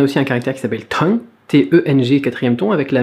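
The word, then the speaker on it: 痛: Tong, tong, tong. Alors, prononciation. Prononciation, on a un T, expiré, très très important, expirez-le, sinon ça va être confondu avec un D.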